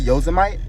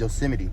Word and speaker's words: Yosemite: then we're going to be going to I pronounce it yosmite but it's pronounced yosity but I'm calling it yite because it's spelled